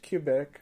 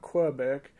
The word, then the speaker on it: Quebec: might not know and for most americans that don't know how to say it correctly it's quebec not quebec but i'll try to